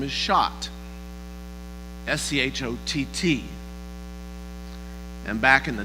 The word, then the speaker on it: Schott: So he changed his name, like many, because Shad actually in German is pronounced Schott.